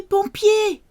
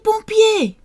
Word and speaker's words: pompier: Appelez les pompiers! Appelez les pompiers! Call the firefighters, the pumpers. Okay, so O and M for mother, together in a syllable is on, pom, pompier.